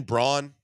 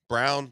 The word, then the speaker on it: Braun: Christian Brawn. Brown. The kid from Brown, but it's spelled Braun.